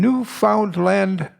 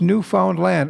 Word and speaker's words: Newfoundland: newfoundland uh island and that's pronounced new found land understand new found land because we too off way too often slur when we go newfoundland and if you live there it's new found land so remember that when